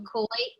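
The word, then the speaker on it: Kauaʻi: k kawaii yes kuwaiti you have to put it in okina that little apostrophe oh my lord i just shouldn't be calling it an apostrophe it's really technically a glottal stop the hawaiian word is okina just give it a little pause so koi and we got the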